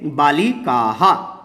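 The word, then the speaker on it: बालिकाः: जिसे विसर्ग कहते हैं, और उसको प्रोनाउंसिएशन हा के समान होती है। तो जैसे बालिकाहा, इस तरह से हम प्रयोग करेंगे।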